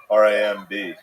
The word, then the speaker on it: Ramb: It's Ram. B. Yeah, but you spell it B. like lamb.